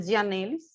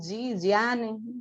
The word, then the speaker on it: Gianelis: Meu nome, como se escreve, é Gianelis. Vocês podem falar do jeito que vocês preferirem, Giane. Já me chamaram de várias formas aqui, então não tem problema, tá?